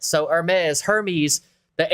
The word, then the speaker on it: Hermes: yeah Zola it's pronounced Hermes like the H in herb is silent so Hermes Hermes the H would